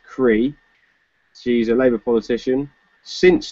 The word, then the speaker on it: Creagh: there's a lady called Mary Creagh Gore who pronounced Cree she's a labour politician